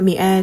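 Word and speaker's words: مائة: 여성 규칙 복수형을 따라 미아 2입니다 미아 2는 민 뒤에 알리프 삽입한 형태로 더 널리 사용됩니다 리프가 있다고 하여 발음이 마로 되는 것은 아니고 그대로 미아라고 발음합니다 또한 숫자 100은 삼격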